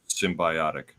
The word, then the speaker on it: symbiotic: it's derived from the word symbiotic, which is pronounced symbiotic, just to solidify the pronunciation.